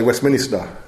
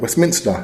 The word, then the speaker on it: Westminster: word Westminster that correctly could everybody say West Minister and he said say that again I said Westminster he said yeah she